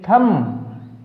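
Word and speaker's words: thumb: THVMB थम, थम्ब नहीं।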